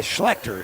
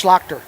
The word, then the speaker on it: Schlachter: do with the allen actually schlecter is how you say that no it's schlachter it's schlachter we grew up with